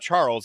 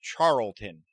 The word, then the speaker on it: Charlton: n I got char No it's not Charles it's Charlton like Carlton Charles